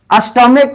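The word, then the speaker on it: stomach: हम कुछ क्वेश्चन देते हैं, देखिए जैसे अस्टॉमिक, क्या है, अस्टॉमिक, और अस्टॉमिक, यहाँ पे अस्टॉमिक अगर हम बोलते हैं तो सी एच का प्रोनाउंसिएशन क्या निकल करके आया, क निकल करके आया, क्या निकल करके आया, क।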